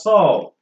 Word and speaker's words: soar: If you could pronounce saw for past tense of the see, the same way you pronounce that saw is the same way you pronounce this word. It's saw.